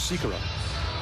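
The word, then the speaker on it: Sýkora: Why isn't it Sikora, you might ask? Like Peter Sikora. Of course. Because Peter Sikora actually was Sikora in Czechia.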